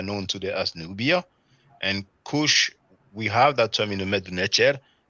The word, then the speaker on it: Cush: And Cush, we have that term in the Medu Neter, but it is pronounced Kash.